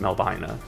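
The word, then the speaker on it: Melvina: Similarly, there's also M E L V I N A, which you think, oh, Melbina, no, or Melbina, but no, it's pronounced Melbina.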